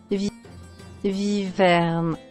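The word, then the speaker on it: wyverne: Oh no, they do spell it with a W. Viverne. And they do still pronounce it as a V.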